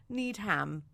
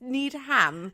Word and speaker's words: Needham: to Joseph neom but need ham it's just it's just need ham that's how it's spelled is it just need